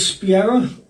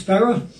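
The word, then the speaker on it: σπεῖρα: The word in the Greek that is spiera, but actually pronounced spera, it means either 500 or 600 men, which I never realized it was that many people.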